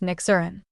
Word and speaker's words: Nyxiryn: After a lot of back and forth, we settled on Nixarin, pronounced Nixurin.